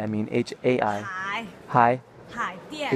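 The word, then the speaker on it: Haidian: Hai Dian. H-A-I. Hai. Dian.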